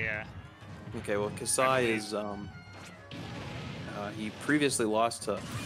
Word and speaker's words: Kasai: It's pronounced Kasai? Kasai, yeah. Okay, well, Kasai is, he previously lost to Offsign, but he showed, like, some wild ledge-trapping potential, so...